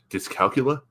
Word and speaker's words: dyscalculia: about dealing with the cerebral palsy and this dyscalculia.